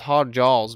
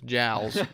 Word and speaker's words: jowls: I thought it was hog jaws, but it's jowls.